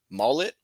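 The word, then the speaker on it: Maulet: Arthur Mullet is what what his last name is pronounced. I've been messing that up.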